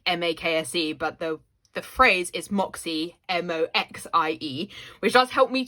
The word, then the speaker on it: Mäksē: it's spelled like M-A-K-S-E, but the phrase is Moxie, M-O-X-I-E, which does help me to pronounce it a bit, though I really don't